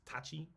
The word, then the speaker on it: Tachi: school Tai Chi's sword which is not Tai Chi like the the Chinese martial it's Tachi it's it got a slightly different pronunciation um and it's not